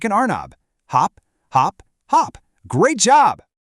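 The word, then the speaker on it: أرنب: The word is arnab.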